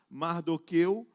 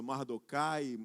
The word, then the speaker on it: Mardoqueu: Mardoqueu, alguns vão usar outra pronúncia, Mardocai, eu vou usar essa pronúncia, Mardoqueu.